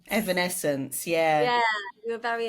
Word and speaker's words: Evanescence: is it is it I'm going say the name wrong is it evanesence Evanescence yeah yeah you were very in that era